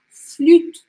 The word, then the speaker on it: flûte: E o E no final das palavras nunca se pronuncia. Então eu falo flûte, flûte. O último som que eu escuto aqui é o do T que temos aqui.